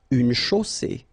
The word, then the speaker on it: chaussée: Une chaussée. Okay, here, final not pronounced. And then you get the double S between two vowels, so it's really strong. I mean, the S is s.